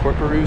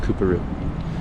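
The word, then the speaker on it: Coorparoo: We're at Corporoo Station. I think it's pronounced Cooperoo. Kind of like Melbourne and Melbourne.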